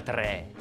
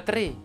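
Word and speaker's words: tre: E comunque non si pronuncia 3, si pronuncia 3 con la E chiusa.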